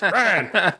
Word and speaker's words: Ryan: I said, Ryan, because in Appalachian English, my name is one syllable for those who weren't aware. It's Ryan.